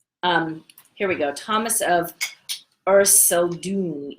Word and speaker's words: Erceldoune: So the first is Thomas the Rhymer, or Thomas of Echteldorn. I always pronounce his name wrong. He was born in 1210, and he was a bard. Here we go. Thomas of Erceldoune, Erceldoune, but commonly known as Thomas the Rhymer.